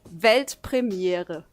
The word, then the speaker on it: Weltpremiere: It's actually Weltpremiere. Weltpremiere. Pretty similar, right? Okay, so with the accent. Okay, Yeah, do so it. with the accent, Weltpremiere. Weltpremiere. Yeah, man. Weltpremiere.